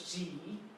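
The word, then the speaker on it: 几: The pronunciation is G.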